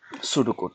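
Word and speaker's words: pseudo: সুডোকোড লাস্টে, সুডো বানানটা দেখেন, এখানে পিএস গ্রিক শব্দগুলো এইরকম, সামনে যদি পি থাকে পি এর উচ্চারণ হয় না, আর সুডো গ্রিক শব্দ, এর অর্থ হচ্ছে ছদ্মবেশ নকল।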